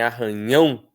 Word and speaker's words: arranhão: Mas em arranhão, a sílaba tônica é o ão.